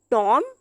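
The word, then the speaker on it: tomb: हुआ आ रहा है, तब हम बी को प्रोनाउंस नहीं करते हैं। टॉम, थम, प्लम्बर।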